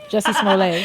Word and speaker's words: Smollett: Jussie Smollett.